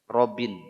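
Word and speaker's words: رب: Robin ya. Dia mesti Rob.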